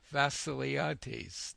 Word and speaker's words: Tom Vasiliades: Hello, this is Robert Rickover at Body Learning, and today my guest is Tom Vassiliades. Did I pronounce that right?